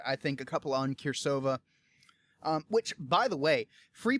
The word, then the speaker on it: Cirsova: here c i r s o v a kirova um I had to ask about the pronunciation but it's such a I've been so